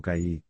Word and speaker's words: Kaiyi: A propósito, os conhecedores de chinês dizem que ele é pronunciado como KI, mas, de alguma forma, acho que na Rússia o simples e descomplicado KI criará raízes.